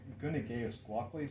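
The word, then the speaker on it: gvnigeusgwotli: and Nathan's I believe the pronunciation is something like gunage guacli so that's an indigenous name from the Eastern band of Cherokee Indians and this occurs primarily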